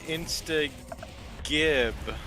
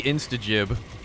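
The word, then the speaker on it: instagib: __ ] band so you're cool with saying insta gibb but i'm not i believe it is supposed to actually be instajib well he wants to call it jib because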